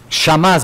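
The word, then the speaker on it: חמס: Mira, la palabra hebrea para violencia es una palabra que eh se pronuncia así, chamas o sha. Shamas, mejor dicho, es la palabra shao de las personas y la rebelión en general.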